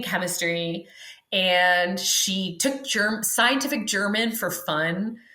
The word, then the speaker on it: Jermyn: I'm obsessed with one character in particular, and her name was Elizabeth German. That's spelled Jermyn, not like the Germans.